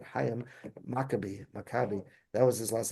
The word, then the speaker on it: Chaim: And I forgot I think his name was Professor Chaim, obviously Chaim, he pronounced it Chaim Maccabi.